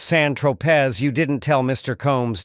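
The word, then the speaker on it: Saint-Tropez: When you bought the eightball of Coke on San Tropé, pronounced San Tropz, you didn't tell Mr.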